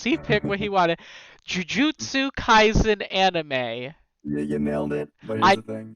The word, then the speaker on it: Jujutsu Kaisen: And Shal is answering questions on, and you'll have to correct me on the pronunciation because he picked what he wanted, Jujutsu Kaisen anime.